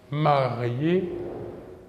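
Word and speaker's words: mariée: Un exemple, marié au masculin, marié au féminin. La même prononciation, car le E, marque du féminin, est muet.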